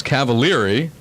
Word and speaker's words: Cavaliere: you before how you say the name it's cavalieri right but how you said you had a